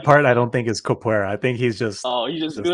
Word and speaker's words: capoeira: right, with that like that dancing style, like capoeira or something. How do you say it? Do you know how to say it? Capoeira, Capoeira, yeah.